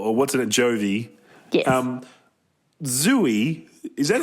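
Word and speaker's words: Zooey: word yeah I'm sorry the correct pronunciation zooie I'll do it for you right now mate it's zooy while you're looking that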